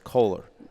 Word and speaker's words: Kohler: I thought I heard you say Kaler one time, but it's Kohler.